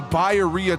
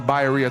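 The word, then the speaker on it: birria: I don't know many people who pronounce it the way I do. I'm Mexican, so I I actually like to try and pronounce things the way they're pronounced. That's a Bayeria Taco.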